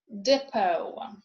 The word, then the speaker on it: depot: It is also not pronounced in a way recently borrowed words from French, as in bouquet or depot.